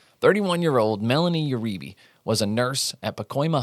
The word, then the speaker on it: Uribe: I know it's pronounced. It looks like Yuribe and that's how I would have pronounced it.